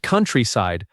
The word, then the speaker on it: countryside: The word countryside has stress on the first syllable.